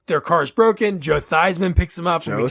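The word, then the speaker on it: Theismann: South oh yeah yeah thyman for Heisman fun fact his last name is theeman he changed the way they say his name just rhyme for Heisman Heisman oh man that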